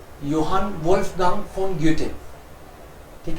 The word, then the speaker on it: Goethe: ग्योटे क्यों बोलते हैं? क्योंकि एच साइलेंट रहता है. गोथे बोल देते हैं हम तो हिंदी के कारण, लेकिन एच साइलेंट रहता है तो ग्योटे आप ज्यादातर जगह सुनोगे ग्योटे.